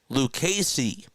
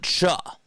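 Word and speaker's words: Lucchesi: The actual pronunciation is Joey Lucasy, not Cha. It's a K.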